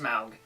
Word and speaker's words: Smaug: a lot more about Smaug, and yes, it's pronounced Smaug.